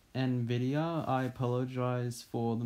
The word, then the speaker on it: Nvidia: laptop and it also has a Nevada GeForce GT I apologize I actually pronounced it wrong it's actually Nvidia I apologize for the